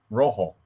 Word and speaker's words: Rojo: He's Rojo. Rojo. Yeah, sorry. That's how you say it in Spanish.